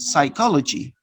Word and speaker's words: psychology: a few words for example in the word psychology and psychology so you don't pronounce the letter b the second note the